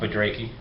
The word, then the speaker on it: Budrakey: Ross Budrakey. Budrakey, okay, that's how you do it.